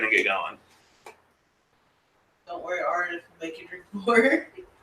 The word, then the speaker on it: Aridif: Don't worry, Aridif will make you drink more.